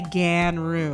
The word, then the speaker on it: Ganru: You have to pronounce it that way? You have to say Ganru.